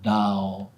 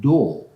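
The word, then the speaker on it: 道: And that Tao part came from China to Japan, and the pronunciation changed from Tao to Do, like Chado, Kendo, Kado, Shodo, Aikido, and many others.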